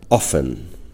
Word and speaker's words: often: Fijaros que esta T no suena. No decimos, bueno, en algunas zonas sí se dice often, pero también podemos decir often, ¿de acuerdo? Yo suelo omitirla, suelo no pronunciarla, aunque sí se puede pronunciar.